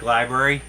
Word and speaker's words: LBRY: It's library. It's LBRY. Look on Google. Here, I'll post the link. Yeah, yeah, look on Google. It should be library. Yeah, it's lbry .com, like library.